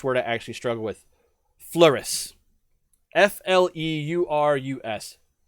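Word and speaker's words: Fleurus: i actually struggle with flouris f-l-e-u-r-u-s the s is actually pronounced which is why it throws me fluoresce the french and the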